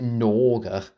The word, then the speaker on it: Gnorga: When you pronounce it, what's spelled? I would have thought you would pronounce it Norga.